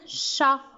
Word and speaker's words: chat: muette qui manque un chat qu'est ce qu'il a à la fin qu'est ce qu'on a dit puisque au féminin on dit une chatte donc c'est facile il y à un thé le champ ça veut